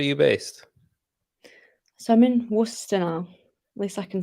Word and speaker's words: Worcester: based so I'm in Worcester now at least I can say it right now yeah I used to be like Woodchester Shire and stuff is it Worcester yeah yeah Worcester so like Worcester sauce